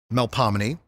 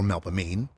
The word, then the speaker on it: Melpomene: Charles on the parade route, like Melpomene or Melpomene, Calliope or Calliope, or Terpsichore or Terpsichore, it's New Orleans. You can pronounce them any way you want.